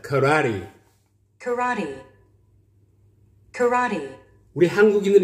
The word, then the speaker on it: karate: Karate. Karate. Karate. Karate. Karate. 라의 스트레스가 오고 있습니다. Karate.